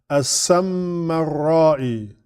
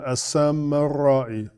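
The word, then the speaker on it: As-Samarra'i: So his last name is a little tricky to pronounce. As-Sammarra'i. Yeah, As-Sammarra'i.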